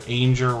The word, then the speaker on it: Ainger: That's Jennifer Ainger, rhymes with danger, with a slight name change there.